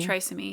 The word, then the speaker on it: trisomy: Trisomy, yeah.